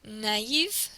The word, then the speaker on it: naïve: You hear the O and the And in naïve, which means naive or gullible in English, you hear the A and the E sound.